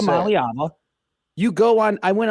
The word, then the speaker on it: Iamaleava: Iamaleava. Iamaleava, that's how you say it. Iamaleava.